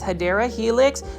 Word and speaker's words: Hedera helix: Every plant foldie's favorite plant, this is the Hedera helix, or the correct way to say it is Hedera helix.